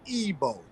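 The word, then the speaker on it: Igbo: like the pronunciation right the I the i in ebo is a e sound it's like it gives off a e sound so when you see the word it'll throw you off because it begins with a I but that I has a e sounding so it's EO EO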